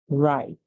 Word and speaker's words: right: it calls its name the g h is silent the T makes the sound to so we hear r i right all right whenever you're